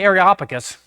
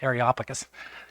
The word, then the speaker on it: Areopagus: When Paul went to the Areopagus, that's how you say it, Derek. You have to practice that, Areopagus.